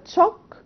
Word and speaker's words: chalk: عشان كده بنقول نخلي بالنا من البرونانسيشن اوكي لاني انا لو نطقتها chalk like this one يبقى هتلخبط في الاختيار. لكن لو انا aware ان sh بنطقها shock وهنا بنطقها chalk يبقى اتس اوكي ام سيف،